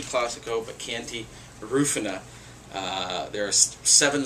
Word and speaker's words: Chianti: today's not a good day for me in pronunciation we're going to talk Italy and we're going to talk Chianti not chanti Classico but Canty rufina uh there are seven zones in Italy